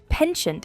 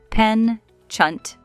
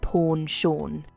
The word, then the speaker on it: penchant: In American English, we say pen-chunt, penchant. And in British English, it's pronounced as pawn-shawn.